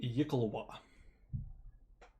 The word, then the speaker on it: Yikalwa: It's pronounced Yikalwa. Didn't know that. It's spelt weird.